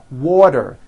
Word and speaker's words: water: make things easy so if a letter T Falls between two vowel sounds which are voiced so if it falls in the middle of vowels then the t is pronounced as a d and the whole word is voiced this is very easy